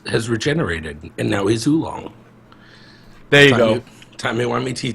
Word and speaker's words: Oolong: Oolong? Did I say it right? That is correct, sir.